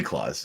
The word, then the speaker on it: Klaus: think there's three collections is it clouds or is it claws it'd be claws but I just like